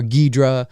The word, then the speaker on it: Ghidorah: megalon king ghidorah or guidra as as it's pronounced often in japanese um he's the hero